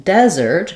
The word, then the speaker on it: desert: stressed syllable and so in desert because we stress on this first syllable Dez the letter e has